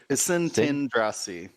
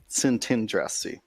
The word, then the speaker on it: Szentandrassy: Szentandrassy. Okay, so the T is in the second syllable. Szentandrassy.